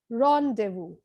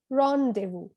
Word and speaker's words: rendezvous: this is pronounced as rendezvous rendezvous so the z and the s are silent the next word is